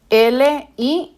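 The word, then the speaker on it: Lǐ: Entonces, uno de estos apellidos es Li, que su pinyin, ojo con esto, por favor, el pinyin es así, L, I y el tercer tono, Li.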